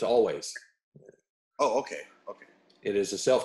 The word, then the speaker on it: Alvvays: It's Always. Oh, okay. Okay. It is a self-titled debut from Always. And it is Always, and not Always.